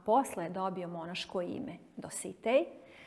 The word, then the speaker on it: Dositej: I pravilno naglašavanje po pravilima akcentuacije srpskog jezika bi bilo da se njegovo ime izgovara Dositej. Međutim, u kraju iz kojeg on potiče, svi su ga zvali Dositej i on je u narodu poznat kao Dositej, pa i mi na taj način akcentujemo njegovo ime.